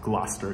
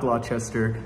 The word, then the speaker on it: Gloucester: quick heads up edgard edmonds dad is actually pronounced gloucester it's not glochester just goes to show that even if you